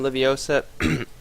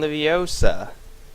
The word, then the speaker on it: Leviosa: between Overachievers and Wingardium Leviosa. I think I'm pronouncing that correctly. Like, if for all you Harry Potter fans out there, it's Wingardium Leviosa, not Leviosa, right?